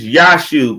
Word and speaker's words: Yashub: It's Yashub. It's not Joshua no more. It's Yashub. We spell it with a J though on the it's Yashub now.